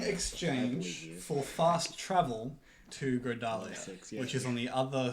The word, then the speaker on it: Grodalia: for fast travel to Grodalia, which is on the other side of Thakrata from where you were. It is spelled like gorilla almost. I didn't know. Not even remotely. Well, it's pronounced similar. Grodalia, gorilla.